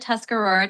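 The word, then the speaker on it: Tuscarora: r o r a yeah that's the tuscar Aurora tribe and you're pronouncing it right.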